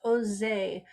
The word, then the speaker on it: OSE: a large organization in france called ose pronounced jose whose mission was to